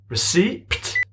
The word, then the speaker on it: receipt: Receipt. Receptor. Ah! And now you choose to be quiet? The P is silent. The P is silent. The P is silent? It's receipt. There it is.